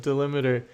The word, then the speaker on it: delimiter: Oh, we've got a tip on the pronunciation of delimiter. Think of it as a limit rather than a meter.